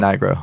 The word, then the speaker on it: Nigro: How do you pronounce Dan's surname? I always see it. I'm never quite Dan sure. Nigro.